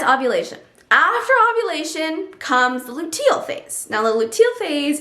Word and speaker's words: luteal: And I said luteal, it's definitely pronounced luteal, but you'll start to feel a